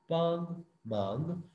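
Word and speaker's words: 帮忙: मांग को थोड़ा सा ऊपर की तरफ आपने प्रोनाउंस करना है, पांग मांग।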